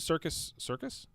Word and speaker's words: Serkis: Circus? Yeah, Andy Serkis. Yeah. Like It's Circus spelled Delay? different. Huh. Yeah, it's spelled different, but it's I think circus.